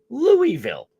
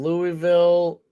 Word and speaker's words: Louisville: We say Louisville. But it's Louisville. That's how they say it.